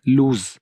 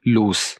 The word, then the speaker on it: loose: और ये जो डबल ओ वाला होता है LOOSE, इसको हम लूज प्रोनाउंस करते हैं। तो इसकी जो करेक्ट प्रोनाउंसिएशन है दैट इज लूज, यानी इसमें स साउंड है, लूज।